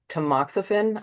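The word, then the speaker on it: tamoxifen: fifth year of um the hormone therapy um tmoxifen.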